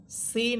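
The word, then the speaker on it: سين: এখানে আমরা সিন এবংশিন এই দুইটা হরফের উচ্চারণের পার্থক্য শুনতেছি।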